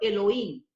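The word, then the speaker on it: אֱלֹהִים: al pueblo de Israel, usa la palabra que se pronuncia en hebreo Elohim.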